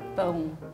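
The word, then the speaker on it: pão: say it again it's like it's like back here boom boom boom sounds like bone the song is going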